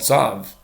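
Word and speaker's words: צב: in modern Hebrew, called Tzav. Phonetically, it sounds exactly the same. It sounds exactly like the name of our Parsha, but it's spelled Tzav. Tzadik Beis as opposed to Tzadik Vav.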